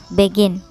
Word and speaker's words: begin: dua suku kata ya begini dan ditekan pada kata Gin ya begin begin Nah maka ketika diakhiri